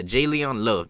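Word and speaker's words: J'Leon Love: on the floyd j leon love jane yeah j leon love that's how you pronounce it saying talking a lot smack to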